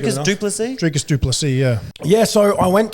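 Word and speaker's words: Dricus du Plessis: Dricus Duplessis, yeah.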